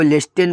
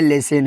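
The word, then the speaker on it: listen: और जैसे इसको लिस्टिन पढ़ते हैं बहुत सारे बच्चे। तो यह लिस्टिन नहीं है। लिसिन है।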